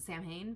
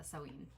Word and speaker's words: Samhain: witch sewing oracle um i used to pronounce it samhain but i think i think the correct pronunciation is uh sewing and then the one